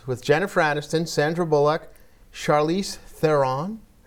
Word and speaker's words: Charlize Theron: I went to a party one time at Chelsea's house with Jennifer Aniston, Sandra Bullock, Charlize Theron.